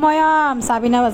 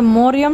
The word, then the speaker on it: মরিয়ম: তো আসলে নাম যে কিতা আমি নিজেও জানি না, কতক্ষণ সারিকা, কতক্ষণ কতক্ষণ ময়রম, কিন্তু মরিয়ম শব্দটা উচ্চারণ কারো মুখ থেকে একবারও শুনি নাই, ময়ম।